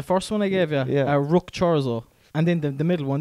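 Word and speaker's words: Ruch Chorzów: Rook Chorzo. Rook Chorzo. Could you spell it for me? Definitely not how it's pronounced.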